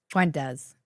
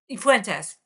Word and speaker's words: Fuentes: York Times piece about Nick, how do you pronounce his name? Fuentes. Fuentes. Fuentes.